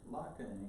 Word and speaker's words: Laakkonen: And I said, it's Laakkonen. He says, no, the way you spell it is Laakkonen, like top part or two part.